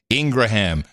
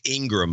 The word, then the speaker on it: Ingraham: Opinion people are Hannity, Ingraham, Tucker Carlson. It's Ingram, by the way.